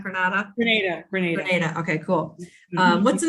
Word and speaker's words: Grenada: So it's Grenada, not Grenada.